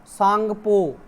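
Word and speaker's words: Tsangpo: ठीक है, तसांग सुना होगा आपने, तसांग जो तिब्बत में पड़ता है ना, तसांगपो, सांगपो। ठीक है, आपने तय साइलेंट होता है इसमें, सांगपो बोलते हैं।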